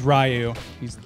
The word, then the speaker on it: Ryu: my dad's a weave I always said it right so I was always Rio that's his name yeah